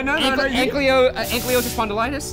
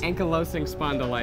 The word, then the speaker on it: ankylosing spondylitis: Ankylosing spondylitis? Ankylosing spondylitis.